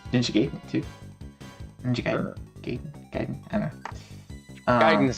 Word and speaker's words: Gaiden: game too okay okay guidance is the correct Japanese pronunciation but yeah yeah but